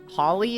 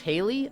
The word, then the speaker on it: Hawley: So, Pixel, do you know who Josh Hawley is? Josh Haley?